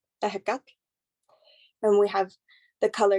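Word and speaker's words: Ehecatl: That's how you say it in Nahuatl, ahekak.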